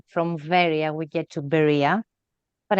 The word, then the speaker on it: Veria: also want to say, I don't know why they translate this Greek city as Berea or Berea, but the word is Veria. So I don't know how from Veria we get to Berea,